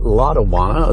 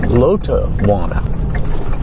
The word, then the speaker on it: Lotawana: And again, we call it Lawana. That's the way it's pronounced all around here. But its correct pronunciation according to Milton Thompson's wife Ma is Lot Wana.